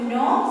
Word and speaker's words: know: Desire to know something. K-N-O-W. How is it read? K-N-O-W. No. K is silent. Know something.